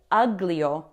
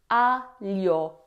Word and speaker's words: aglio: Don't say uglio. Aglio. It's alio. Alio.